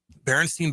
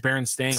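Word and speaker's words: Berenstain: Baronstein bears. The stain bears. You mean is it Baron Stain? Baron Stain. I got that wrong.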